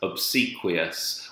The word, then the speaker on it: obsequious: sounds there and then you have the stress obsequious where the stress is on the C so